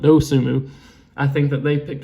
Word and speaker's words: Dosunmu: I think the N is silent. Dosunmu.